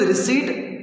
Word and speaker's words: receipt: The right pronunciation is receipt. P is silent.